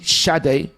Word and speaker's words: Sade: And your love is king, but it's actually pronounced Sade because she's Nigerian.